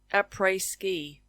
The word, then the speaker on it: après-ski: The only other thing I can think of is like array ski. We don't say the s, but it is a French word, so we're not really using it as an English pronunciation.